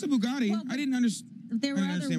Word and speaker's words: Bugatti: mess that one up a Bugatti it's a Bugatti I didn't there are other words attached to